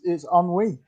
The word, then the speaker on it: ennui: It's ennui.